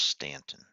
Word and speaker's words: Staunton: They spell it Staunton, but I believe it's pronounced Stanton.